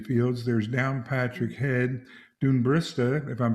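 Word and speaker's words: Dún Briste: near the caju fields there's down patrick head dune barista if i'm pronouncing that correctly that's right a sea stack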